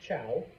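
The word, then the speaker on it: Zhou: I know it starts with a Z, but it's pronounced Chow. Okay. Eventually, a group known as the Chows move in, and the two societies live side by side, the two families.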